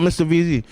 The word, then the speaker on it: MRVZ: My name's not Mr. VZ.